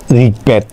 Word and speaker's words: ঋগ্বেদ: এখানে আরেকটা আছে গফলায় ব এর উচ্চারণ বজায় থাকে। তাহলে যদি গতে বফলা থাকে তাহলে কি হবে? বর উচ্চারণ বজায় থাকবে। যেমন ঋগ্বেদ, তার মানে গতে ব আছে, সেই জন্য বর উচ্চারণ হয়েছে।